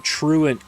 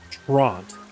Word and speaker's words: Truant: for 20 years but every time truant came up as an ability he pronounced it tront which if you go phonetically yes it is tront but it's not phonetically that we're that you speak it and oh my God